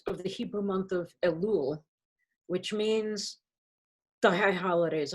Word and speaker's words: Elul: and uh elul is the preparatory time how do you spell that e-l-u-l i couldn't find a one l